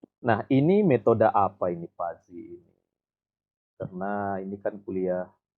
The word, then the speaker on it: fuzzy: Jadi tulisannya Puzi, membacanya ini Pazi dengan Pazi biasanya.